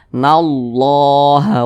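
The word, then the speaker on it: الله: berbaris dah seperti ini maka cara baca Allahnya itu dibaca tebal atau dibaca takhim jangan dibaca tipis tapi dibaca tebal maka di sini dibaca nallaha walladzi nallah dibaca tebal seperti itu jangan dibaca nallaha Jangan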